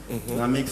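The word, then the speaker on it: Naamix: Namix, ça s'écrit avec du A.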